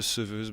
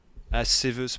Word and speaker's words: séveuse: Séveuse, oui, on ne doit pas dire seveuse.